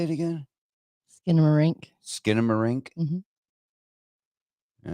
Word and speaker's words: Skinamarink: uh how do you say it again skinamarink skinamarink all right this is going to be a